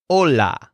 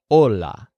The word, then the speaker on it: hola: say this he says hola so the stress syllable here is all which is kind of like whole which is what his head stuck in but the H is silent so it's just hola next he sees a